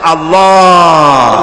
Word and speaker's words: আল্লাহ: আল্লাহ পাকের নাম হচ্ছে আল্লাহ মুখটা একটু গোল হয়ে যাবে বলেন আল্লাহ اللہ আল্লাহ اللہ আল্লাহ